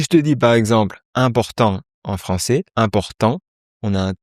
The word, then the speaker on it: importante: Il faut que chaque lettre soit prononcée distinctement.